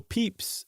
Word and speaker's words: Pepys: Yeah, I think um, as far back as Samuel Pepys uh in the 17th century, the famous diarist whose name I finally pronounced correctly, um he tended I think his